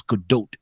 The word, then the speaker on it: Gadot: brushing up the pronunciation gadot is not it's good do't however however what the